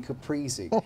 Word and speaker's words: caprese: it what's the trick it is its breezy being capris it's breezy being caprese how's the progress been